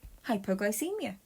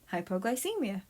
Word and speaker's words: hypoglycemia: for the word hypoglycemia to pronounce it say hype o gly see Mia okay here's an activity